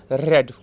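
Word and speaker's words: read: याद रखना इसका प्रोनाउंसिएशन हमने क्या किया, रेड, राइट. रीड की स्पेलिंग, तीनों स्पेलिंग सेम होती है, रीड रीड रीड, लेकिन जो प्रोनाउंसिएशन है ये अलग हो जाता है, रीड रेड रेड, राइट.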